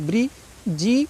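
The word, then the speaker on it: bridge: ऐसे नहीं पढ़ना है क्यों जी से पहले डी आया है तो डी का प्रोनाउंस नहीं करना है डी से हमको कोई मतलब नहीं है डी की आवाज नहीं निकालनी है देखो बी आर आई ब्री जी के साथ ई आया है तो ज हो जाएगा तो ब्रिज इसको क्या पढ़ना है ब्रिज पढ़ना है डी से कोई मतलब नहीं डी का प्रोनाउंस नहीं करना है आपको ऐसे ही ई डी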